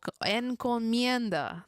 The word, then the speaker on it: encomienda: We're learning the Spanish word together. Encomenada. Oh, encomienda. There we go.